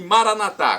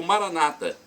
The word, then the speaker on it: Maranata: E Maranatá, como dizemos nós católicos, ou Maranata, com a tônica na penúltima sílaba, como dizem nossos irmãos separados, os protestantes. Não importa a pronúncia.